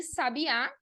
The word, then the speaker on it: sabiá: Então, para vocês verem como a diferença, da pronúncia, a diferença do acento, tanto o tônico quanto o acento gráfico, é muito importante porque muda o sentido da palavra.